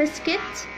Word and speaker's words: biscuit: biscuit. biscuit بمعنى بسكويت. tongue. tongue بمعنى اللسان. اتكلمنا النهاردة في سلسلة silent letters عن ال silent G، وقلنا دايما silent G بتكون متبوعة بN.